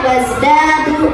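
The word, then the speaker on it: وَازْدَادُوا: Walabisu fi kahfihim salasami'atin sinina wazdadu tis'a. Tadi wazda ada mad tobini ya, ada fathah menghadapi alif. Nah tadi dipendek ya, bacanya dipanjangin. Jadi apa? Wazdadu tis'a.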